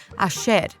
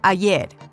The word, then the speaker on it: ayer: They pronounce their double L's and Y's with a sh sound, as in ayer or calle, instead of ayer or calle.